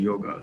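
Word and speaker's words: योग: So with yoga, it's the same. It went from yog to yoga. So in Hindi, people still say yog, and because yoga is such a widely used word today, that also in Hindi some people add the A, but it's a kind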